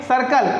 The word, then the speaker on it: circle: सी क्या देखिए आए सर्कल, क्या पढ़ेंगे इसको? सर्कल, करकल नहीं, सर्कल।